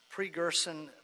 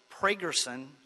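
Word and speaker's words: Pregerson: engineering hyperion treatment plant pre-gerson i'm sorry pragerson i know judge pragerson you think i'd pronounce his name pragerson yeah pragerson building first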